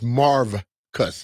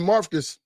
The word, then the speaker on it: Marvcus: Marcus Patton name is Marvcus. Yeah, with a V. Marvcus. I guarantee you nobody called him Marcus.